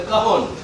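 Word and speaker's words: cajón: The cajon. See, I can't remember. It's a European instrument. It's spelled cajon, K-A-J-O-N, but it's pronounced cajon.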